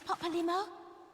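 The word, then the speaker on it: Papalymo: you're solely mistaken i dragged you into this papalimo that's how you say his name just hardly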